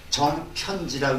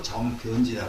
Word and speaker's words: 정변지: 키읔, 피읍 이런 것을 격음이라고 그러는데 이런 격음은 각자 사용하지 않습니다. 굉장히 부드러운 말을 사용해가지고 정편지라고 있지 않고 정변지라고 읽어요.